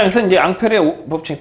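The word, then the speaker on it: Ampère: 암페어. 이 사람이야. 이 사람 프랑스 사람이야. 그러니까 발음을 원래 앙페르 이렇게 발음해야 돼. 앙페르 이렇게 발음해야 되는데 이제 영어식 표현으로 암페어라고 표현한 거야.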